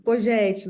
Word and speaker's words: Pogetti: Poguetti, ou Pogetti, como que pronuncia teu sobrenome? O microfone já está aberto para a gente te ouvir. Isso, Pojete, Luciana. Pogetti, muito bom.